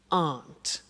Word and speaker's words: aren't: they aren't cheap so the difficult here is the pronunciation of are not which is Aunt okay Aunt good so